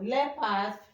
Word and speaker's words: leopard: it's not the sound but leopard we have met it several times. So leopard is the correct answer.